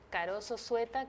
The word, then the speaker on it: Karoso Zueta: Bueno, tenemos el canal de YouTube que se llama Caroso Sueta, que Caroso es con K y S, todo lo contrario a como se escribe Caroso. Caroso Sueta con Z y 2T.